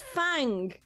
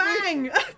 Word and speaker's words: Fang: It's Fang. Yeah, who's also learned Kung Fu. Fang. It's Fang. Did you think it was just a random alligator? No, sorry, I'm laughing because it rhymes with Kang, and so true.